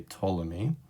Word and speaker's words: Ptolemy: we're looking at claudius ptolemy a lot of people when they first see his name try to pronounce the p and we never pronounce the p when we say ptolemy he was a greek